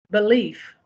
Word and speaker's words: belief: so if leave belief the word is belief l e i f and in the English language it rhymes with a leaf on a tree l e AF F belief but if I believe